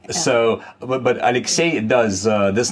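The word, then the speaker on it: Алексей: In English, this name is pronounced as Alexey, but the stress is actually different. In Russian, the last syllable is stressed, so it's Alexey. Right, it's not Alexey, it's Alexey in Russian.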